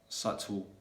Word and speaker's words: subtle: it like yeah so the letter b is usually going to be silent when it comes before t so for example in the words doubtful doubtless undoubtedly subtle subtleness yet we as